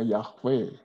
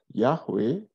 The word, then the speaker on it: Yahweh: kalau ini konsonan semua, Y, H, W, H. Nah, kita orang Kristen suka menyebutnya Yahweh. Tetapi buat orang Yahudi, mereka tidak pernah menyebut kalau di Alkitab ada tulisan Yahweh, mereka tidak menyebutnya Yahweh, tetapi menyebutnya Adonai.